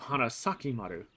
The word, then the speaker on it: Hanasakimaru: Kururugi instead says it as Hanazakimaru instead of Hanasakimaru. I mean, it works because Kururugi's accidentally saying the name wrong because, sure.